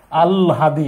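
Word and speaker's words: আহ্লাদি: আহলাদি লেখা আছে কিন্তু উচ্চারণ হবে আলহাদি।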